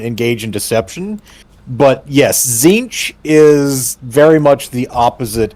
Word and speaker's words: Tzeentch: I usually pronounce it Zinch with a second N there, but yeah, I've heard people say Zeech as well.